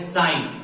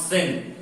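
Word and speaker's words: sine: ये होती है साइन, नॉट सिन। बहुत लोग इसको सिन प्रोनाउंस करते हैं, ये होती है साइन।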